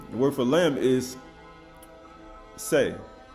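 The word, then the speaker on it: שה: They say it like say, it could be shah or shah. Right? Right? Because they got the shin and the ha. But it has say, it's shah, right? Say or shah, right?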